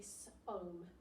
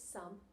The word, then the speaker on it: some: Or Now, if I was to sound this out phonetically, and I would go that that's an O, it would be som, som, which isn't a real word, is it? So we know this is some, or some.